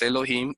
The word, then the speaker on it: Elohim: vocales e o i, lo que tienes que leer es Elohim y no Jehoví. Sería un error garrafal leer Jehoví.